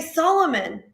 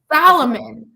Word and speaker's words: Solomon: How do you not know how to say Solomon? But I mean, it's not like he's mispronouncing, like he's adding in a letter that's not even there. Salomon. Like there's no A anywhere in his last name.